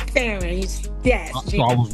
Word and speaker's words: Farren: Is it pronounced Farren or Farren? It's Faren.